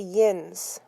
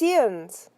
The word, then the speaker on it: yinz: thought for a minute people here say yinz that's not how you say it said debbie it's ian's almost like there's no vowel or it can be like in book not everyone says it though